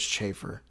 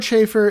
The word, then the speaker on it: chafer: I just realized the word is chaffer. Chaf is spelled ch h a f. I mean e with no e with no r. chafe. E at the end.